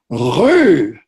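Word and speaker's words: rue: French word for Street but most Americans can't pronounce it correctly it's who try saying that so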